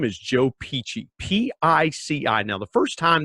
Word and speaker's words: Pici: Now, the first time that Joe and I got together and got connected, I thought, Pici, is it P-E-A-C-H-Y? But no, it's Italian. It's P-I-C-I, but it's pronounced Pici.